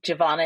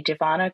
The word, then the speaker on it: Jovonia: Jovonia is how you say my name. And if you can say Jovonia, great. Nothing in between. It's Jovonia or, one of the two.